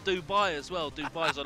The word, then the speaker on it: Dubai: but the most but in Arabic duban if you will say Dubai or they the way they pronounce is they say debate debate just like somebody debates like a debate yeah it's like having